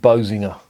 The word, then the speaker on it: Boezinge: But the actual area they're based in is a place called Boezinge. I think that's how it's pronounced in Flemish, but it is in